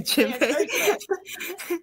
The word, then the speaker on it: djembe: Okay, the djembe.